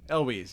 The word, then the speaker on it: Elwes: But, you know, Carl, or Cary Ilwes, I can never pronounce his name. Elwes, yeah.